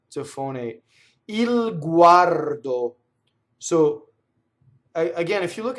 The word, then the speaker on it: guardo: So U A R do. That's the other way you can separate, right? Guardo. It goes all throughout your mouth.